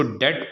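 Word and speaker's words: debt: silent हो जाता है जैसे डेट इसको डेट पढ़ने हैं डेप्थ नहीं पढ़ने इसी तरह बी ए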